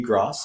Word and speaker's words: Gross: my dear friend gross as in cross which is the right way to pronounce it just in case you're